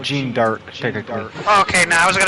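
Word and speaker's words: Jeanne d'Arc: chick oh um cuz her name is Joan of art Joan of art but in French it's Well jean jean dark okay now I was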